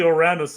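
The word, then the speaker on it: Ouranos: I think then technically Oranos is that Oruranos as he pronouncs it is actually the actual pronunciation of the dity that Uranus is derived from.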